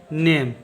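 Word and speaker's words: name: का उच्चारण होगा म, और ई का कोई उच्चारण नहीं होगा, इसको पढ़ेंगे नेम।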